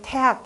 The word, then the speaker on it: 태학: 원래 학교 이름으로 읽을 때는 어떻게 읽는다? 태학이라고 읽어야 됩니다. 태학이라고 읽어야 되는데 사람들이 헷갈리니까 어떻게 되나 태학이라고 했잖아요. 이렇게 썼었죠. 고려 때 태학 이렇게 되는데 요즘에는 그것도 저것도 아예 다 무식하니까 어떻게 돼?